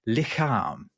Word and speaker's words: lichaam: Oh, actually, my favorite one, though, is the Dutch word for body, or one of the Dutch words for body is lichaam, and that's spelled Lichaam.